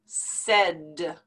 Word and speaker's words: said: pronounce it we say said like if it were written s e d said now here's a